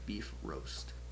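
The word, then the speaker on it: Bifröst: Anyways, the uh technical like the way you're supposed to pronounce it in that language is is sounds like beef roast.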